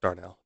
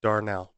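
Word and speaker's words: Darnall: boy named Bobby Darnell I believe it's pronounced Darnell Darnell d-a-r-n-a-l-l Bobby Darnell I'm just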